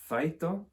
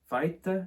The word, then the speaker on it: feito: The Portuguese word for done being feito. Feita, is that right? Let's ask Joanna. Joanna, how are we going to say this? And Joanna says we're going to say Feito.